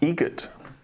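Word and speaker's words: Eget: Egret. Spelt differently. Like the bird.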